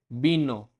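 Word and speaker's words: vino: है, तो जो लेटर बी और वी दोनों की साउंड यही सेम रहती है जो बॉय के अंदर बी की साउंड रहती है। अब फर्स्ट वर्ड है बीनो, बीनो वाइन।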